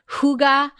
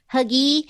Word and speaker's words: hygge: Have any of you guys heard of that hygge, which is spelled Hygge? So for the longest time, I thought it was like huggy, which I think is kind of better than hygge.